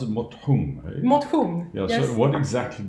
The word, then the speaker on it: motion: Mothung. Yeah. Yes. So what exactly does that mean? So mothung is sports without the competition. It's spelled like motion in English, and the whole idea